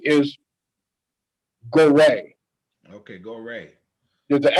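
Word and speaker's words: Gorée: river was called synagogue now so the french pronunciation is gorey okay go away there's the accent over the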